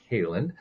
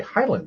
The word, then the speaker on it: Heyland: guest joining us today his name is Rick Halen I'm sorry Highland I I said I was going to pronounce the name correctly and what did I